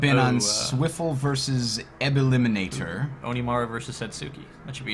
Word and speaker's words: Onimaru: Onimaru versus Setsuki.